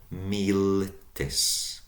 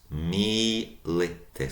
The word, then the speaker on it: militis: So from ES in the nominative and the vocative singular, just soldier, of the soldier, militis. Militis. So long first syllable, mi, short, li, short, tis. Militis, of the soldier.